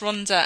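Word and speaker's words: Rhondda: we had we had him pronouncing Ronda as um Rond or something or Rond it was hilarious and he got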